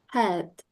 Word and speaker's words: health: When you pronounce ACLTH, health, health. Okay, your mouth is stay open when you finish pronouncing that word.